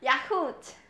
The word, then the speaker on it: yaourt: Yaourt. Yaourt. Yeah. Yaourt. Yaourt. Yeah, there is no H.